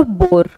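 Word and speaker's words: bore: First है बोअर और बोर। First pronunciation भी पर भी आप प्लीज फोकस करना, मैं किस तरह से प्रोनाउंस कर रही हूँ। बोअर और बोर।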